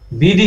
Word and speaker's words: বিড়ি: অর্থাৎ ওই বিড়ি হুক্কার যেমন স্ট্যাটাসও কম, আবার এদের পাতাগুলো শুকানো হয় এবং মাটিতে ফেলে দিয়ে অনেকটা বুঝাচ্ছে। বিডি লেখা আছে। বিডি হচ্ছে কি, এটা ইন্ডিয়ান বানান আসলে।